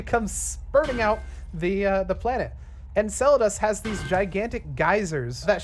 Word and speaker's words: Enceladus: We have, how do you pronounce this? Enceladus. Enceladus.